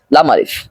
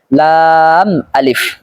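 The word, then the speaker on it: لام ألف: মিম নুন লাম আলিফ এখানে অনেকেই ভুল করে বলে থাকে লাম আলিফ এটা ভুল উচ্চারণ সঠিক উচ্চারণ হলো লাম আলিফ এরপর রয়েছে লাম হাম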